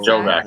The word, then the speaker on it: Jobiak: Joe back it's pronounced.